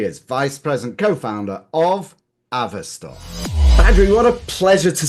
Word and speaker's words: Avestor: We used to sometimes use Avestor and Avestor, but the proper way is Avestor, is what we would recommend.